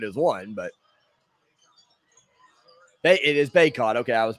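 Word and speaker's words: Bacot: bar i figured is one but it is baekhod okay i was pronouncing it right he goes left side with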